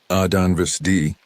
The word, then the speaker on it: Adanvsdi: Adanvsdi, with emphasis on the middle syllable, the sound rising and falling like traditional Cherokee speech patterns.